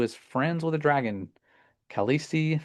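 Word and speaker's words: Khaleesi: Kalesi, that's how you say her name.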